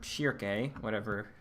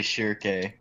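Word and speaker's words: Schierke: Like you got to Shirk, or Shirke, however you want to pronounce her name. I don't know how it is. I just always said Shirk. Maybe that's wrong. Is it? I've heard most people say Shirke.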